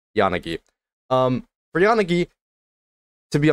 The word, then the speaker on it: Yanagi: pronounce it so I'm going to try to pronounce it correctly Yanagi um for Yanagi to be honest this one